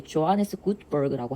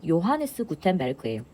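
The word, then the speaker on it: Johannes Gutenberg: 그래서 발음은 영어로 읽을 때 조하네스 구트버그라고 하는데 그냥 우리말 표기로 하면 요하네스 구텐베르크예요. 그래서 구텐베르크 이게 죄인데 요 발음이다.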